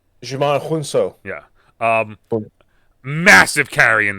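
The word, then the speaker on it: Djimon Hounsou: yeah um so um jimon jimon is how you say his name Jon I looked it up I watched about three videos on how to say his name it's Jamon Jamon huno yeah um massive carry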